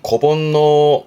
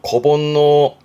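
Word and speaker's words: 子煩悩: 그래서 발음이 고본노 고본노 고도모 때문에 본노 번뇌하는 즉 자식 사랑이 끔찍한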